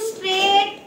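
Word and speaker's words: straight: देखिए मैं बोल रही हूँ स्ट्रेट, STRAI, स्ट्रेट, T स्ट्रेट, GH को तो मैं खा गई अंदर ही, है ना, बोल ही नहीं रही मैं, भूख लगी थी मुझे।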